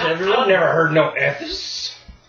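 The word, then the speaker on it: Ethess: Okay, wait, spell that for me. Ophelia. Ophelia is just normal spelling. Yeah. Ethes? Yeah. E-T-H-E-S-S?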